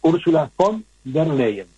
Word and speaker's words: Ursula von der Leyen: Pero fíjense qué detalle, Ursula von der Leyen, voy a pronunciar correcto, Ursula von der Leyen, estableció un presupuesto de 800.000 millones de euros